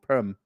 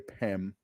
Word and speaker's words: Perm: Do I say Perm or do I say Pem? I always wonder if I'm saying it wrong. Perm. It's like perm, as in perm on a lady's hair, but I want to say Pem.